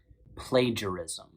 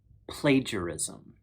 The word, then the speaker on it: plagiarism: could prove it now plagiarism is a four syllable word play ger e zom i've included the phonetic